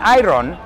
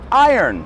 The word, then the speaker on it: iron: Eso es, cuidado con la pronunciación de esa palabra, iron. No es iron, it's iron.